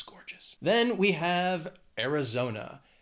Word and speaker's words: Arizona: gorgeous then we have Arizona it has four syllables the stress is on that third syllable Arizona zo zo zo Arizona not much to say